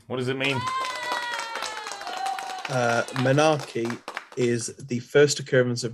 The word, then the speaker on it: menarche: of that menace or actually as it is pronounced menarche is good for eight well done wrong what does it mean uh menarche is the first occurrence of menstruation really who's